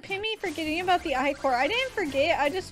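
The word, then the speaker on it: ichor: gonna go get more i chords pronounce i cor i'm gonna get i-core pronounced i core first give me some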